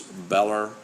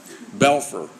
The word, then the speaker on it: Belfer: the Harvard Kennedy schools belair have I got that Ryan to my pronouncing that Bell 40 I need to put my glasses on sorry belfer looked like an L belfer center for space